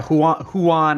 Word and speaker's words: Huan: Huan? That's pretty good pronunciation. Yeah, Huan is the what I've been hearing just from